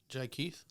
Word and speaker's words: Jhikeith: And the way they spell on the website is Jhikeith. Jai Keith? There you go.